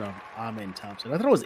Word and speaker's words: Amen: I was not entirely knowledgeable about the correct pronunciation there as well so to bail you out so one more time it's it's Amen right amen amen amen amen so so you